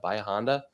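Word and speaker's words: Bahia Honda: most beautiful beaches in the country it's called bahanda bayahonda um is how they pronounce it it's about 40 minutes north from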